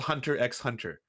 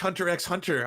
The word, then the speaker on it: Hunter x Hunter: you have to watch Hunter x Hunter Hunter x Hunter I was like oh cool Hunter x Hunter is that like and they're like no no no Lance the x is silent I was like oh